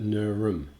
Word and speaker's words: Nerm: Port Phillip was apparently Nerm, N-E-R-M, which I think is not how you pronounce it. Usually with these schwa sounds, like the inverted E in phonetics, you would possibly, and you get this in Hebraic and Phoenician, where you only have consonants, and so you have to, I'm assuming that quite often when there's no consonant, you should just use a schwa, which is just an sound. So I would pronounce that Nurum.